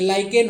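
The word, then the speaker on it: lichen: तो लाइकेन होता है, LAIKN। तो सबका प्रोनाउंसिएशन देख लीजिएगा।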